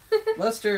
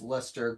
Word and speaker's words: Leicester: William Johnston's A Pronouncing and Spelling Dictionary, 1764, notes that the C is not pronounced in the words such as Leicester, Gloucestershire, Worcester? I think that's how I'm saying it, right? I don't know. Which makes them two syllable words.